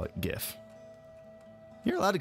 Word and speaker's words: GIF: I don't care if you guys call it gif you're allowed to call a gift I've never corrected anybody who calls a gift